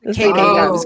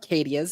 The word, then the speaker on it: cicadas: Cicadas. Barry, I was going to go cadias, but it's not cadias. It's cicadas.